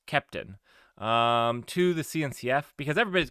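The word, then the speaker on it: Keptn: They say it's pronounced Captain, but there's an E. And so they're wrong. The creators are wrong. It's Kepton.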